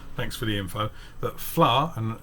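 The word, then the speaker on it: fleadh: for the info that flower and it's not spelt like that but i'm sure that's how it's pronounced um is uh irish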